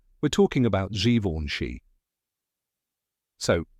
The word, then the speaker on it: Givenchy: and often mispronounced that's right we're talking about Zoni so how do you say it the correct pronunciation is xoni let's break it down step by step the